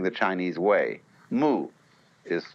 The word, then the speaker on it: mui: In Japanese, Mui. I is Japanese for pronouncing the Chinese way. Mu is Chinese Wu.